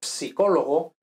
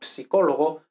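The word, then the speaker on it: psicologo: Pues, por ejemplo, lo psicólogo, que en español decimos psicólogo, pero en italiano se pronuncia la P también. Entonces, lo psicólogo, o, por ejemplo, pues no sé, ahora mismo, ¿no?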